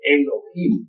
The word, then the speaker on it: Elohim: Eso significa Elohim, o mejor dijéramos Elohim, porque la H se pronuncia como J.